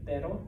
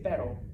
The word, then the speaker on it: pero: singular heart all right so like pero butter better so if you could say butter you can say pero correctly okay now the r